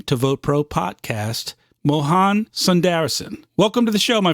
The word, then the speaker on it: Sundaresan: pronounce so the reason just think of sundried reason oh that's perfect you know like problem is I'm a STONER so I can't even remember sun-dried raisin I've read your bio